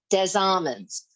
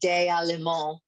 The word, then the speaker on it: Des Allemands: in a place called Des Amens. It's our mispronunciation. It's really Des Allemands, but we say Des Amens.